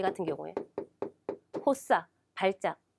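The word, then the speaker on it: 発作: 혹은요, 상급에도 많이 나왔겠지만 이 같은 경우에 호사, 발작. 예, 시험에는 호단이나 호소쿠가 1급이 많이 나오겠지만 이 세 가지가 다 뭡니까? 호수로 발음되는 단어이기 때문에 체크해 두시기 바랍니다.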